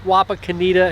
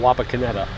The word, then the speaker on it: Wapakoneta: ballin i want to make sure i was pronouncing it correctly and she said it's both wapa kenita and wapa kineta but i think most of the locals call it wapa kineta correct but uh yeah this is his boyhood